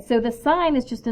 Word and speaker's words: sine: okay first of all do not pronounce this sin because it's just short for sign and we usually don't